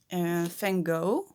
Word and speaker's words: Van Gogh: And I say Van Gogh because I know most English people say it like that. Um, but Vincent van Gogh is Dutch, like I am, and we pronounce his name Vincent van Gogh.